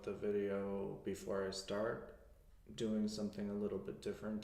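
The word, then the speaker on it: doy: the word to give in Spanish is good I give is DOI so it's like boy ending oh why DOI DOI good I give it good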